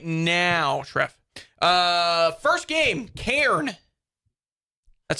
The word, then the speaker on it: Cairn: First game, Cairn.